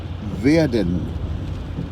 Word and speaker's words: werden: se pronuncia en alemán werden. ¿Ya? La W o W se pronuncia en alemán como una V pequeña, como la de visa.